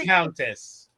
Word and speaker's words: viscountess: Viscountess. What is it? The S is silent.